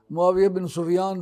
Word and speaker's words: معاویہ بن سفیان: اصطلاح ہے امیر معاویہ، اس لیے حدیث کی کسی کتاب میں امیر معاویہ نہیں آئے گا، معاویہ بن سفیان آئے گا۔ اس لیے صحیح تلفظ اس کا یہی ہے، معاویہ بن سفیان رضی اللہ تعالیٰ عنہما،